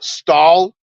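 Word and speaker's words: Stahl: was trying to say this guy's name uh stall s t AHL that's German for steel also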